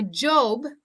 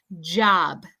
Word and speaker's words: job: hear with Spanish speakers they say uh my job my job uh but we want to say the O Like An ah sound job job okay so practice